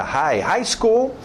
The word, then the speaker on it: high school: Deixa esse GH fora. High school.